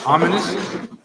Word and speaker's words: Ominus: name of the comic is called Ominous, but it's not spelled like this.